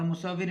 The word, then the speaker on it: مصور: فہرست میں مصور، اور مصور میں پہلا حرف مضموم، دوسرا مفتوح، تیسرا مشدد مکسور۔ جیسے مصور کے وزن